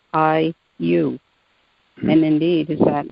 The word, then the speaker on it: Ayllu: I've always found that to be the perfect word for community because it is pronounced I-U.